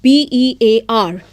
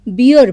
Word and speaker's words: bear: right so we have seen normally the word b e a r is pronounced as beer by some people but it is not B